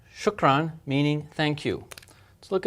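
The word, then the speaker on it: شكراً: and as we said when you see this and pronounce it as n okay we just learned shukran shukran meaning thank you let's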